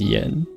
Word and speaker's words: Yan: front of it, like they use the A instead, but it's still pronounced yen.